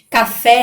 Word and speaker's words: café: Café é a mesma coisa, então fé é a sílaba mais forte, então ela é uma oxítona.